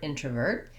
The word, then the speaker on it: introvert: in, introvert versus extrovert, and that means that the letter O is in an unstressed syllable, and so it's not like when I would say the word intro. I'm going to give you an intro where I use a clear O. Instead, that O changes to a schwa sound.